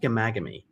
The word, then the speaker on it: Ghaemaghamy: um but it's pronounced gamagami um kind of a silent h so yeah it's kind